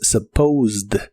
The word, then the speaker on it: supposed: En el pasado es supposed, es un verbo regular, así que en el pasado es similar al presente, pero termina con e d. Aunque solo se pronuncia la d, suena como supposedo, "I supposedy, supuse que estabas ocupado."